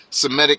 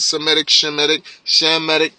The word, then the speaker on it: Semitic: to a person that's Semitic also, or Shemitic. All right, but either way, how you want to say it, Semitic, Shemitic, however you want to pronounce it, it's all the same word.